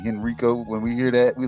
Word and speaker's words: Henrico: Exactly, in Henrico, Virginia. That's how you say it, Henrico.